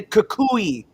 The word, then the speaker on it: Kukui: neighborhood Red Dog, also the man repping the Kukui beads, because that's how you pronounce it.